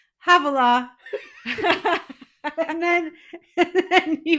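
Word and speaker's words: hvala: And then so in Croatian, forgive my pronunciation because I know this is wrong, but to say thank you, it's va va va.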